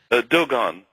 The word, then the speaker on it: Dogon: But how did you come across the and am I pronouncing this tribe right, the Dogon tribe? Do they pronounce it like that? Dogon. Dogon, okay.